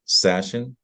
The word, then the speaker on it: Sashen: Well, ladies and gentlemen, we are talking to Stephen Sashen. Sounds like fashion, but spelled with an S.